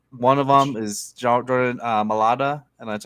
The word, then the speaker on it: Mailata: One of them is Jordan Mailata, and that's how you say it.